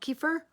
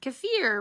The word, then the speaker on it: kefir: drip from kaffir milk kefir um so funny just thinking about how it rhymes with deer kefir rhymes with deer sorry